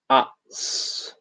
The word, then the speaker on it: Utz: It's pronounced Utz.